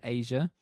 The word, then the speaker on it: Aja: vinyl by Steely Dan called Asia that's spelled a Aja a I can't get hold